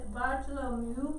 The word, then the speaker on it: Bartolomeu: um all right so the pronunciation is bartolomeu it's a different pronunciation now they've updated it so it's trying to get fully into his pronunciation right who made it